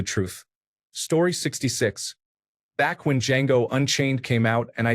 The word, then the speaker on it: Django: Back when Django Unchained came out and I did not know the movie existed, I saw a meme with Leonardo DiCaprio saying the D is silent.